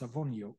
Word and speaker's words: Sawoniuk: was obviously this person, but the name was spelt in the Ukrainian or Polish transliteration, S-A-W, still pronounced Sawoniuk, but S-A-W.